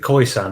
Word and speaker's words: Khoisan: Yes, so I'm going to butcher the pronunciation here, but is it Khoisan? Is that right? Yeah, Khoisan is yeah.